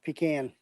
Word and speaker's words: pecan: Pecan pronounced correct. It's pecan.